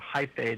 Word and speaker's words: hyphae: You said it right, hyphae.